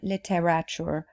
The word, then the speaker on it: literature: to divert attention literature the pronunciation of this word is three syllables licked richer literature not literature or literature so literature